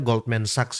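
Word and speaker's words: Goldman Sachs: emm Goldman Sax teman-teman ya bacanya Goldman Saxs ya.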